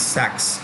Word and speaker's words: Goldman Sachs: or goldman sachs right pronunciation is sacks goldman sachs goldman sachs it's an